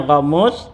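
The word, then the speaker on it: غموس: ya gumus ya gumus tu bifathilin ya bacanya Gamus ya ya Gin liahuiba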